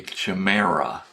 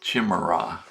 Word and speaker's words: chimera: And chimeric is an adjective meaning something like a chimera or a chimera, depending on how you care to pronounce it.